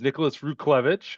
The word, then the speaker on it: Nicholas Ruchlewicz: It's Nicholas Ruklevich. I appreciate it very much. All right, it's a it's a Polish last name.